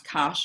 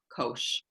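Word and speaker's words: cosh: we pronounce cinch and c-o-s-h you can pronounce cash or kosh and i've been kicked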